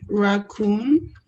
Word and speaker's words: raccoon: but there are exceptions if the two syllable words end with o e or o o n the last syllable is stressed um raccoon raccoon yeah now the stress is on the now let us confirm